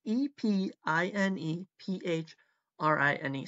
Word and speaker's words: epinephrine: I didn't actually look up how it's pronounced, but it's E-P-I-N-E-P-H-R-I-N-E. So I'm going to go with epinephrine, and it is a